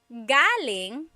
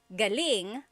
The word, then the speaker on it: galing: So, galing the emphasis is on the first syllable that means coming from. David Jr. on Instagram just asked the same question, too. Galing means good or great. So if the emphasis is on the second syllable, galing that means good or great or excellent.